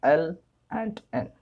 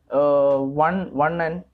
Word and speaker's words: ln: It is, we can pronounce that L and N. That's ln. Okay. It is not one n.